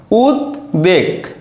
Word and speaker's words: উদ্বেগ: বিষয়টা কেমন, দেখো উদ্বেগ, দেখো দয় বয় উদ্বেগ, এখানে দর উচ্চারণও রয়েছে বর উচ্চারণও রয়েছে, উদ্বেগ।